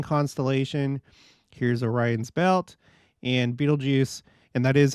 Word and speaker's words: Betelgeuse: of the Orion constellation here's Orion's Belt and Beetlejuice and that is how it's pronounced is basically the right shoulder of Orion